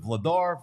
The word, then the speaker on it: Vladar: How do you pronounce? Is it Vladar?